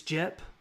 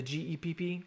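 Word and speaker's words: Gepp: you live near Vedette, I think it's Jep, is how you say it, the G-E-P-P, Gep or Jep, on Highway 412, you need to be sheltered.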